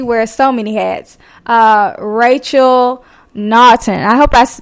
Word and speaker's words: Naughton: I get Newton, I get Norton, but Naughton, yes, it is pretty unique, but you pronounced it correctly.